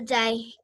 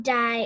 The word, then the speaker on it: die: How you say it in German is Elle die Humanist, and not die as in kill, die as in the.